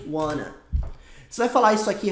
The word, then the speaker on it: want to: pronunciado como wana e want to também é pronunciado como wana você vai falar isso